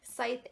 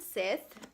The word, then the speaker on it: Scythe: Now, going back to the title of the book, I've heard 2 different pronunciations. I've heard Scythe and Scythe, whichever one you prefer.